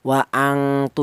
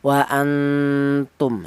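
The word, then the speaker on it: وأنتم: Wa'antu, jangan dengungnya yang lebih dominan. Wa'angtu jangan, atau yang ausat wa'antu juga jangan. Tapi ini samarnya lebih kuat. Wa'antum, seperti itu.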